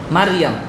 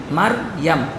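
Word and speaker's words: مريم: মারিয়াম। বলেন শব্দটা কি? মারিয়াম। মারইয়াম। আমরা উচ্চারণ আবার ভুল করি, আমরা মরিয়ম বলি, ঠিক না? মরিয়ম, মরিয়ম না, শব্দ কি? মারইয়াম। মিম র জবর মার, ইয়ামিম জবর ইয়াম, মারইয়াম।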